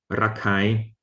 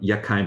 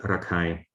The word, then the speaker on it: Rakhine: But the Arakanese, the Rakhine, still pronounce it as ra, which of course you know that in Rakhine, it's not Yakhine, but Rakhine, they still have the ra sound.